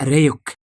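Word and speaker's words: Ryuk: بيقطع لايت بيتاكد ان رايك جاي وطبعا بيحب التفاح فبيحط له التفاحه بيدخل رايك وبياكلها وبيعرفه ان النطق الصحيح لاسمه هو ريك هنا بقى لايت بيساله عن اهميه مذكره المود دي وازاي يقدر يستفيد منها.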